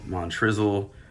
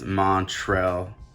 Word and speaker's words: Montrezl: pronouncing this guy's name i've heard it pronounced montrezl montrizzle i'm pretty confident that it's montrell montreal herald but uh i might be wrong but i don't think i am so put that over